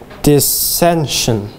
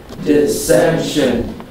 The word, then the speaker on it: dissension: Dissension. Dissension. There are three syllables and the second syllable gets the accent.